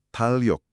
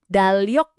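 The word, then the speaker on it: 달력: Talok. Dalyok agak beda ya bunyinya. Coba perhatikan penekanan di suku kata pertamanya.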